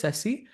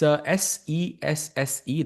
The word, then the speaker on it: Sesse: And chat people are asking, what is Sessi? It's Sesse. That's how you pronounce it.